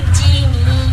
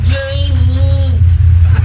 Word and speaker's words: Jamie: Hindi Jimmy. Jamie.